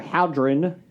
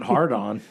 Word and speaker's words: hadron: will be starting up their hadron oh thank you for not pronouncing it hard on uh coliter they're hagrid